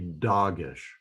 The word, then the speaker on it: dagesh: The letter in the inside of the letter here, the dot right in the middle, is called a dagesh. It sounds like the word dog in English.